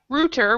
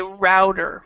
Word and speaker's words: router: Okay, now there's 2 ways to pronounce this. We have router, which is more the British way, and then in American English we will say router.